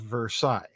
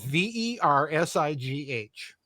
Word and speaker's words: Versailles: The first question was, list 5 significant provisions of the Treaty of Versailles. Okay. VERSAILLES. Versailles. Okay. Mm-hmm. I get an answer back from a student where Versailles is spelled VERSIGH.